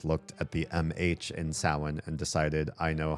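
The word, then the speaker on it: Samhain: said that it is also also pronounced besides being pronounced sin they said there's an alternate pronunciation called Sam Hayne and I said you are song. There is not an alternate pronunciation of Sam.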